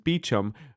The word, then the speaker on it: Beauchamp: It's spelled Beauchamp. It's pronounced Beecham because England.